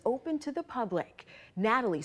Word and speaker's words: Gnatalie: 75-foot, long-necked green dinosaur Gnatalie before it's open to the public. Gnatalie spelled with a G because of the stinging gnats that pestered excavators. From sunrise to sundown, these little biting gnats would attack us.